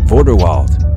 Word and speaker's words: Vorderwald: Vorderwald. The Vorderwald cattle, or as the Germans would call it, Vorderwalder Rind, is a dual-purpose cattle breed with a name that rhymes with Grindelwald.